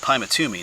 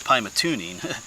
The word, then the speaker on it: Pymatuning: was saying it wrong I was saying it pat tuming It's Pat tuning oops there you go